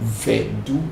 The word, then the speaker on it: voodoo: using the word voodoo, which in my area we never call voodoo because we don't use the nasal sound to pronounce voodoo. Even in some parts they call it vedu, not even voodoo, it's vedu.